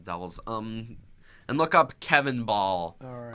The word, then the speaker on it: Bahl: And look up Kevin Ball. All right. Last name is spelled BAHL. Got it. Kevin Ball, everybody.